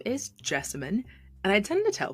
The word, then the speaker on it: Jessamyn: hello my name is jessemine and I tend to tell folks that I rhymes with specimen but with a J I'm a budding sociologist